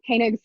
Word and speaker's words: Koenig: They next, the Times, the London Times hired, I think you actually pronounce his name Koenig, Friedrich Koenig.